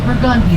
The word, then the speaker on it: Burgundy: That spells Burgundy, right? Anyone who's normal, that's Burgundy. Here in New Orleans, folks, we're not normal, and we mispronounce everything. That is Burgundy to us.